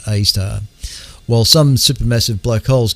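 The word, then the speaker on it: Sagittarius A*: Tucked away in the heart of the Milky Way galaxy is a slumbering giant known as Sagittarius A, pronounced A star.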